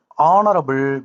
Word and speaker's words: honorable: ஆன் the word honorable begins with a silent H.